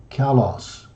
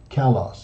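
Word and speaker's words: καλός: this adjective means fine beautiful good and is pronounced Kalos Kalos it means fine beautiful and good you've got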